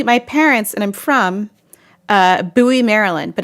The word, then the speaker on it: Bowie: it's spelled like Bowie it's spelled like Bowie, as in David Bowie. So whenever someone is not from Maryland and they come and they see the sign for Bowie, they go, oh, Bowie. And I'm like, dude, it's not Bowie.